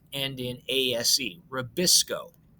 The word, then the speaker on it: RuBisCO: not end in ase rabisco sounds like nabisco that makes cookies okay it's rubisco it is probably probably